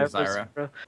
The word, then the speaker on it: Zyra: Am I pronouncing that right? Zyra, I'd say Zyra.